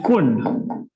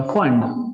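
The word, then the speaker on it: Pfund: Last में फुंड या फंड, normally it is pronounce as फुंड series.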